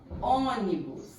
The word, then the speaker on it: ônibus: Olha só, ônibus. Ó, A sílaba tônica é o on. Última, penúltima, antepenúltima. Então, aqui ela é proparoxítona.